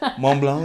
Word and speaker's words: Mont Blanc: of my head, but Mont Blanc is the main one. That has both of them, actually. It has the T and the C you don't pronounce.